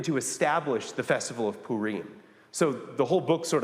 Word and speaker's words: Purim: Purim is sometimes how it is pronounced.